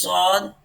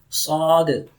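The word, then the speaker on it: ص: This is sod, sod, sod, sod, sod. Tongue presses hard on plate. Okay, tongue presses hard on plate, okay, from there. Sod, you can see here, okay. So sod, okay.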